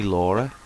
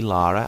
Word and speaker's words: Lara: the name L before have you heard the way Americans say it they basically say Laura like they can't it's like they can't say Lara as a word they just say Laura um I haven't quite